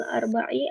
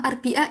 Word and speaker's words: الأربعاء: sulasi, hari Selasa, wayamul arba'i, hari Rabu. Iya bagus. Nah siapa Kak Dina? Nanti bacanya Sulasa sama Arbi'a ya. Biar nanti nggak keseleo lagi bacanya.